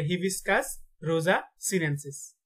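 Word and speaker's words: Hibiscus rosa-sinensis: জবার বৈজ্ঞানিক নাম হচ্ছে হিবিস্কাস রোজা সিনেনসিস। তাহলে হিবিস্কাস রোজা সিনেনসিস। ভিডিওটা কয়েকবার দেখবেন, তাহলে উচ্চারণগুলো ঠিক হয়ে যাবে ইনশাল্লাহ।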